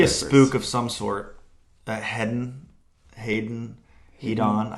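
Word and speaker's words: Heddon: Hedon, I hear it pronounced. I think it's Hedon is the proper way to say it.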